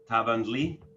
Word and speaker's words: Tavanli: i am greek american can you actually pronounce my last name tavang tavangli yeah yeah great great oh awesome it also seems a bit chinese you know tavang lee you know but no it's greek uh i'm the community